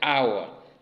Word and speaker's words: hour: with a consonant h, because the h in hour, for example, is not pronounced. So hour is pronounced as if it began with a vowel, like hour.